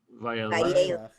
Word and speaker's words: Vayeilech: Vayeilech.